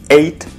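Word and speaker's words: ate: и кушать прошедшем времени id id произносится как цифра восемь id id есть эйд ел еду делать бит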